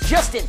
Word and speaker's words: Justin: get the wrapping okay my name is Justin it rhymes with Dustbin this is Justin's house